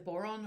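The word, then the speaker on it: bodhrán: Okay, so I started off as a small child playing the piano, singing, playing the boron, or some people pronounce it byron, which is an Irish drum.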